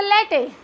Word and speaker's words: latte: Okay, next one is the latte. Latte, what is latte? Latte, latte, because this word is again surrounded by the vowels in front and at the back also, so you will pronounce it as latte.